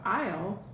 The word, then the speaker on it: aisle: So here you have aisle, but the word aisle starts with A, but it sounds like it should start with an I, doesn't it? Aisle.